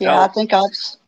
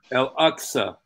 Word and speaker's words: Al-Aqsa: It's Al-Aqsa. Say it again, Steve. Al-Aqsa. Okay. Like the Q is an X.